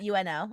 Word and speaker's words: Uno: Is it spelled UNO in the book? Yeah. Yeah. Uno. Like the card game.